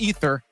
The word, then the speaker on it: Aether: It's pronounced Ether, but the team was calling it Aether.